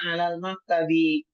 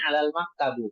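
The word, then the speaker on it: على المكتبِ: Ainal kitabu yang dimaksud di sini hua hua alal maktabi yaitu kembali Alkitab. Di mana buku itu? Buku itu ada di atas meja. Alal maktabi naq alal maktabu. Kita enggak membacanya alal maktabu. Ini salah.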